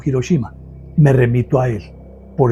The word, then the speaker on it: Hiroshima: lo que ustedes quieran, me dijo que la pronunciación correcta era Hiroshima y no Hiroshima.